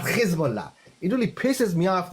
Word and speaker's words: Hezbollah: The pronunciation is Hezbollah, not Hezbollah.